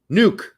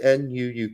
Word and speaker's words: Nuuk: ever you said you said their capitals nuts nuke nuk nuke I believe it's pronounced nuk in nuu it's Nuuk K yeah judgmental deity tells us that St